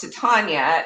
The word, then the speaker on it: Titania: Um, you know, going back, I probably would have named Titania something different. And I then I I realized that it's pronounced to Tanya in like Midsummer Night's Dream.